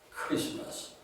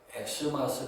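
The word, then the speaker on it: Xmas: 자예요 그리스도를 상징하는 약자입니다 그래서이 스마스를 크리스마스라고 읽어야 합니다 그런데이 크리스마스의 의미를 모르는 사람들에게는 엑스마스 될 것 같아요이라는 것은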